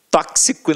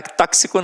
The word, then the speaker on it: tóxico: ó gramática T tóxico tóxico né cara tóxico não ó tóxico É isso mesmo né quase que sai um tóxico Olha que feio que ser semântica então a sílaba tônica sempre na anti penúltima sílaba agora a gente estuda